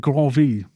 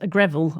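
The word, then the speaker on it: Gréville: Or is it Grovey? How do you say it? Edmond Greville was British, but he grew up in France. Right. So I just, Greville, I think, is what we say.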